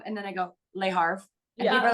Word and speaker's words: Le Havre: So I was like, don't say the R-E. Just I know. I know. But then I always go Le Havre and then I go Le Havre.